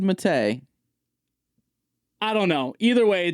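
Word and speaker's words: Mattei: you say his last so some people semitai some people say mate I say mate I'm going with mate I've always said it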